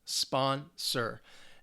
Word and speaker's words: sponsor: So this is a noun, 2 syllables. And the stress is on the first syllable, sponsor.